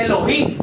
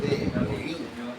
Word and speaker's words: Elohim: la H sí tiene cuando se pronuncia correctamente la H, se tiene que efectuar un sonido desde la H.